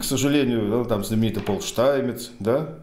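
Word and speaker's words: Stamets: И вот, к сожалению, там знаменитый Пол Штаймец, да, у нас он в русскоязычной традиции как Стеймец, да, но это все-таки немец, там, так или иначе, этнический, вот, поэтому правильно его произносить Штаймец, Пол Штаймец.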